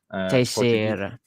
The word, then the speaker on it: Teixeira: The only reason I sort of have an idea of how to pronounce that is because I knew a girl with the same surname. Teixeira. Portuguese.